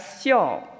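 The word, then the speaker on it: 孝: Let's take a look at the Chinese character for filial piety, pronounced as xiao.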